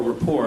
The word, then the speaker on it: Colbert Report: Tyson has been a frequent guest on the Colbert Report, or rapport, I guess is the proper pronunciation.